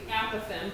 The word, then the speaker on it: apophthegm: So my students thought that was always funny, and then I realized I'd been saying it wrong. Apophthegm. It's actually apophthegm, but it doesn't really matter.